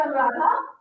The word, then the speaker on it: Anuradha: My name is Anuradha. So D is very hard to pronounce. D is okay. It's hard, but anyone say that, it's fine. No matter.